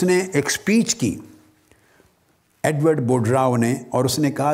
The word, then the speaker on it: Boudreaux: Rao. Edward board Rao, board Rao کا spelling بھی note کر لیں، یہ مختلف ہے ساؤنڈنگ سے، وہ ہے BOUDREAUX، مگر ایکس سائلنٹ ہے بولنے میں، تو ایڈورڈ بوڈ راؤ کہیں گے۔ یہ بھی کیمسٹری کا